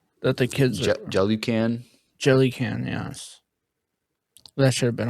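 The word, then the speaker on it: Jelucan: Jellycan.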